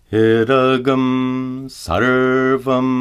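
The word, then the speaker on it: इदं सर्वम्: For example, Idagam sarvam. Notice that the anuswara is pronounced gum. Idagam sarvam.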